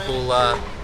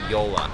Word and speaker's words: JOOLA: ways so it's not hula it's not joel it's definitely not jula which is what is most common it's actually yola so the easiest way to remember this is yolo all right you only